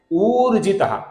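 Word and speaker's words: ऊर्जित: आगे का नाम है उर्जित। यहां पर दीर्घ उ है।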